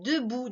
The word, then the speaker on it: debout: On a le mot invariable, debout, D-E-B-O-U-T.